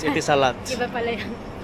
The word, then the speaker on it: Etisalat: Eti bilat. So yun. Eti bilat. No it's etisalat. Iba pala iyon. It is pronounced as etisalat.